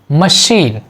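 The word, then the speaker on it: machine: जैसे French language के कुछ वर्ड यहाँ पर दिए गए हैं जिसमें CH का प्रोनाउंसिएशन शा निकल रहा है। जैसे मशीन, मशीन शा निकल रहा है ना, मशीन।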